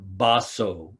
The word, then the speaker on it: Baso: It is a statement from Mazu, or Baso is his name in Japanese pronunciation, early Chinese Zen master.